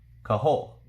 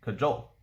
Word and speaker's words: cajole: that should be suspension kahol excuse me cajole that should be weedle